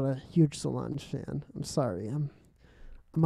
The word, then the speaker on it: Solange: singing is that how you say her name solange yeah solange is singing in this yeah and her voice